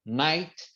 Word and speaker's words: night: aqui ao S letters o s letters é quando o GH ele não vai ser pronunciado for exemple night night né que é noite